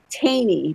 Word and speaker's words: Thoene: It's a pair, Bodie, Bodie, and Brock Taney, but it's spelled Thoene.